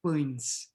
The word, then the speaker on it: pães: And then one pão, and analogically, the student is going to say dois pães, okay? And then you can say, well, actually, it's pães, right?